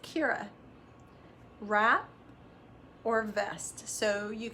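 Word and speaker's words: Chiara: So Petra has designed the C-H-I-A-R-A, pronounced Kira, wrap or vest.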